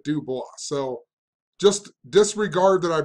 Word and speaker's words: Du Bois: I just mispronounced Webb Du Bois. I honestly had no idea how to pronounce it. I even looked it up and it said Du Bois.